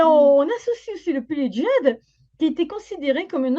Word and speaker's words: Djed: C'est la cérémonie du Djed, Z, on prononce, qui était pratiquée surtout